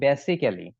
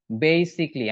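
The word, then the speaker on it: basically: আমরা ভুল করে থাকি এইটা আমরা বলে থাকি বেসিক্যালি বা বেসিকলি এরকম অর্থ আমরা উচ্চারণ করে থাকি বেসিকলি এরকম বলি বা বেসিক্যালি বলি একটাও না এইটার উচ্চারণ হচ্ছে বেসিকলি আমি লিখে দিচ্ছি তারপরে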